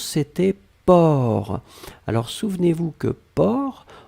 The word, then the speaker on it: porc: Alors souvenez-vous que porc, on ne prononce pas le C final.